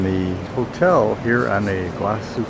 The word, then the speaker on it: Iguazu: hotel here on a vasu Falls or vasu or wasu whatever how they pronounce it here I think they don't put the G in somehow we just did